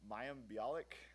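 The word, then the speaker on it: Mayim Bialik: to hell undergraduate leadership council's event where um mayam biic that's how you pronounce her name uh she's from The Big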